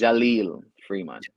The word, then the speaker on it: Jaleel Freeman: pronounce your name? My name. That's Yeah, my name is Jaleel Freeman.